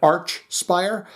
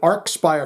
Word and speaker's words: Archspire: right all along because some people said arch spire i called it ark spire first wendy says no it's the it's you've said it the proper way it's arc spire so